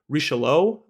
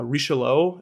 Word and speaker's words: Richelieu: He wrote the play Richelieu, which I think is how you pronounce it. My French is not great, but it's Richelieu, and Richelieu is a cardinal